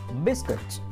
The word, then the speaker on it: biscuit: love ghost next one biscuit biscuit okay b-i-s-c-u-i-t silent another pronunciation